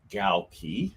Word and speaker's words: Galkey: I'm here with Brian Galkey. If you don't know how to say his name, it's like gal and a key, and you put it together and you get Galkey.